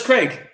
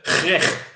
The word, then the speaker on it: Greg: We pronounce our G's. It's a G. Our G's a G, not a H. It's a. Oh, you mean it's a Greg? No, G. G. Greg. G. Greg. Greg.